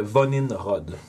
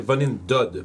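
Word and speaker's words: Vonindod: Ça s'appelle le Vonin Rod. Je vais m'assurer que j'ai bien appelé ça. Pas appelé, mais bien dit, parce que des fois c'est des prononciations. Non, c'est Vonin Dod, pardon. V-O-N-I-N-D-O-D. Vonin Dod.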